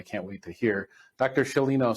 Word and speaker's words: Sciolino: story that I can't wait to hear Dr shalino say hello to everyone hello oh Spicer be